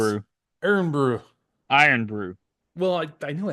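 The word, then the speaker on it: Irn-Bru: They have to use other things to power the robots like tea, milk, and um I just Iron pronounce brew. Iron brew.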